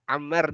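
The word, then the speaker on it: عمار: Apa beda Ammar dan Umar penulisannya? Alifnya Ustaz. Nah, betul. Kalau tidak ada alifnya di sini, maka dibacanya Umar. Tapi kalau ada alifnya di sini, maka dibacanya Ammar.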